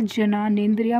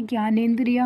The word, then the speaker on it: ज्ञानेंद्रिय: मैं एक चीज़ और बता दूं, ये जब इंग्लिश में जे और एन एक साथ लिखा होता है तो हम इसको ज्ञा पढ़ते हैं। बहुत सारे बच्चे से जनानेंद्रिया पढ़ेंगे, दैट इज़ रॉन्ग प्रोनाउंसिएशन। ये ज्ञानेंद्रिया होता है।